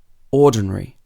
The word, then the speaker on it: ordinary: that you can remember in the next set of words that we're going to practice the stress is placed on two syllables before the suffix comes for example ordinary it wouldn't be ordinary or ordinary ordinary so let's practice some